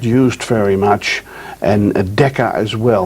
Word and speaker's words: mu: a nanometer micro and that symbol you see over there is mu is pronounced mu and then melee we're